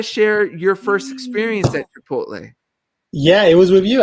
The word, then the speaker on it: Chipotle: Chipolote. No. How do you say it? Chipolote? Say it again. Oh, Chipotle.